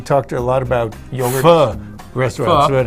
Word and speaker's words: Pho: Pho restaurants when it's hot. Vietnamese. Did I pronounce that right this time?